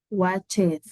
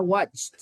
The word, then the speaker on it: watched: Yo les digo así para que nos demos cuenta que tiene ed, pero de ahí se pronuncia watched, como con una T.